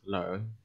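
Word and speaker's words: 兩: is not ye anymore it will be pronounced as learn learn learn learn means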